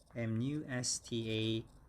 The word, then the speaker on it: mustache: lip we call that m-u-s-t-a-c-h-e and that's and the accent is on the second syllable star and it's a long a ah and then and when they're combined together it's mustache mustache mustache all right and 41